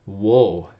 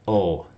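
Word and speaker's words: を: So you're saying, hey, well, why didn't you just pronounce that wo? The truth is, this is a sound that's mostly used as a particle in Japanese. If you don't know what that is, you're going to learn about it as we go through this class. But the wo sound in modern Japanese is pretty much pronounced just like the character up here. So o, o.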